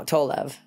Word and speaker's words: Tolev: No, Tolev.